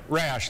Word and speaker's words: Rasch: First off, did we pronounce the last name right? Rasch, like Rasch.